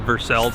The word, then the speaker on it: Versailles: it yourself so no I literally grew up in a town in Kentucky called Versailles Kentucky that's how they pronounce it so cafe Versailles has